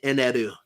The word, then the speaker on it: Eneru: A new guy in the chat, Andy Cantarero, says, you mean Enner? And yes, that's who I'm talking about. Although his name is pronounced in Japanese, Eneru.